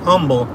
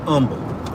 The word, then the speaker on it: Humble: you know it's not humble it's it's humble there's no h and the pronunciation is silent i'm from mumble texts